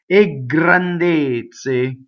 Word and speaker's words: grandezze: Here's our word a again, and notice again it's up to its usual tricks of making the G double. So you would say ggrandezze.